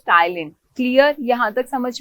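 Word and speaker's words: ptyalin: ठीक है, okay, P silent होता है इसमें, तो इसको हम टाइलिन भी बोलते हैं। ओके, तो इसको पटाइलिन मत बोल देना, ठीक है, प्रोनाउंसिएशन अपनी सही रखो। बहुत सारे बच्चे मैंने देखे बहुत गलत गलत बोलते हैं। सो इट इज टाइलिन।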